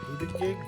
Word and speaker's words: Buttigieg: Buttigieg?